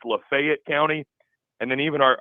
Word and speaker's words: Lafayette: this you know I've always known it as Lafayette and in Old Miss I'm sure you knew Oxford is in Lefayet County it's spelled exactly the same but they pronounce it Lefayet County yeah it's not Lafayette commun that's how communists pronounce it just they